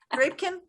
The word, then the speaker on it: Drapkin: Drapkin? Drapkin. Or Drapkin. Rhymes with napkin.